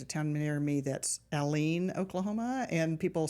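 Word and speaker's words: Allen: okay um there's a town near me that's alen Oklahoma and people say it as Aline or various other things you're like you're not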